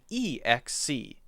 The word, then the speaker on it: excess: But there's actually only one difference in how they're said. One is access and one is excess. The basic difference is the A and the E sound. When we say the A sound, it's ah.